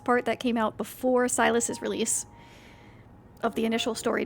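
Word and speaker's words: Sylus: Silas is spelled actually S-Y-L-U-S.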